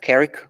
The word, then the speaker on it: Carrick: I'm principal architect at Carrick Group. To remember Carrick, think of people that work for Carrick, characters. That's how you pronounce Carrick.